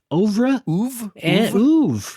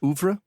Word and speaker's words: oeuvre: Is that the right pronunciation? Oeuvre? Oeuvre? I go to the Louvre.